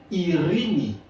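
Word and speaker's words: ειρήνη: Nous avons le mot erini. qui signifie paix en grec qui signifie paix en français dans le grec ancien. Maintenant ce mot a évolué dans le grec moderne.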